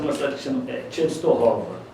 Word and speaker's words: Częstochowa: Ele nasceu numa cidade que se chama Częstochowa. A pronúncia correta é essa.